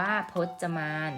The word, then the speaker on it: พจมาน: เทียบ นะ คะ พจมาน อ่าน ว่า พจมาน นะ คะ แปล ว่า